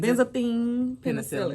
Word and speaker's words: Benzathine penicillin: How you pronounce it? Benzathine penicillin.